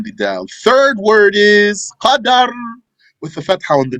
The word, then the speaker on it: Qadar: Then there's a third word, which is Qadar, with a fatha on the dal. So don't mix Qadr and Qadar.